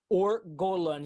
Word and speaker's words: Or Golan: How do you spell it? It's OR. ORGOLAN. OR GOLAN. Yes, ORGOLAN. LAN. Yes, it's as simple as that. It's easy to pronounce it in English. It's easy to pronounce in Portuguese.